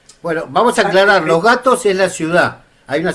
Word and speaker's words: Los Gatos: Pero pero los gatos, la T en en acá en Estados Unidos no se pronuncia como t, se pronuncia casi como una d, entonces se llama los gatos.